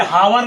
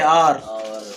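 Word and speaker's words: hour: Sound की बात है, यहाँ पर एन होगा क्योंकि ये हावर नहीं है, आर है, आर।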